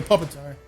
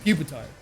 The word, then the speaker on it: Pupitar: Currently a Puppetar. Puppetar. Or Pupitar. How is it pronounced, actually?